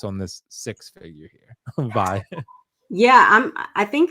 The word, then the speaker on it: Vi: Vi. Yeah, I'm I think it's Vi. I I I don't think it's six. It's Vi, yeah.